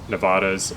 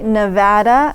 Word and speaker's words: Nevada: our viewers you know we say nevada not nevada uh and so i